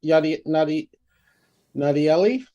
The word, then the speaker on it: Nadieli: And Nadiel, where you come, Nadieli, did I pronounce it correctly? Yeah, that's correct.